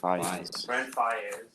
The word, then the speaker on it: Faiyaz: Is it Faiyaz or Faiyaz or how do you pronounce it? Oh yeah, Faiyaz.